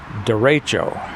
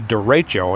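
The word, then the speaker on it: derecho: from what I understand a dero it's spelled D e r e c h o it comes from a Spanish term link will have to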